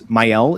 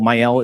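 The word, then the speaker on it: Maëlle: We're going to use Myel. Myel is going to use the movement. Probably has a more French pronounce pronunciation.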